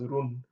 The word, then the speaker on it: run: And the next one here is, so run, do not pronounce it in English run. Yeah, it's the same word as English run, but the Nuer pronounce it as run.